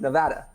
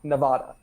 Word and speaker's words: Nevada: reyes cambodge and i'm from nevada yes it's pronounced nevada not nevada so anyway i'm extremely excited to be working